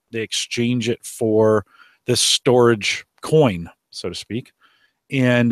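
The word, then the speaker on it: Storj: They pronounce it storage.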